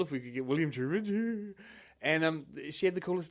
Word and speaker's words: Trubridge: Trubridge.